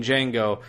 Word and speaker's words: Django: where Jamie Foxx, playing Django, goes up to the bar and introduces himself to this Italian guy. What's your name? Django. Can you spell it? DJANGO. The D is silent.